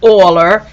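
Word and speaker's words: Euler: whose name starts with an e but it's pronounced aller and that's why we use an e is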